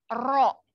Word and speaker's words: rho: Nah, ini disimbolkan itu adalah ro. Bacanya ro.